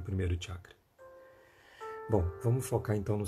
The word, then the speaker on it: chakra: Às vezes a gente vê algumas pessoas falando assim, chakra. É assim que a gente escuta, chakra. Não tem. Não é assim que pronuncia. A gente pronuncia chakra, ok?